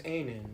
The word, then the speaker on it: Anin: My name is Anin. My name is pronounced like A Nintendo minus the Tendo.